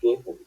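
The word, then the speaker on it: gehen: অল্প একটু রিডিং করে পড়েন তো এটা এটার গেহেন প্রত্যেকটা বুকটা বিয়ের করে গেহেন গেহেন উচ্চারণ করেন তো একের পরে গে এ হা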